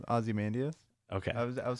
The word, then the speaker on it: Ozymandias: Ozymandias. Okay. I would say I've heard I've so many different things. I all pronounced it differently before.